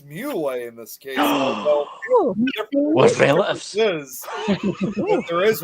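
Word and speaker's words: Moule: to be pronounced well it's Mo it's actually because my great-grandfather was French mle is actually French for mus you know and it's funny that's kind of similar to my last name it's mle in this case there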